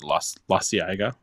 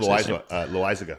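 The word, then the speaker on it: Loáisiga: Jonathan, I don't know how to say his last name, but Lasiaga. Oh, John Loizaga.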